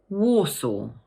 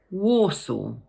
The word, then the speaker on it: Warsaw: So just break it down into two parts, war and saw. The stress falls on the first syllable. So in full, we pronounce it Warsaw. Once more, Warsaw.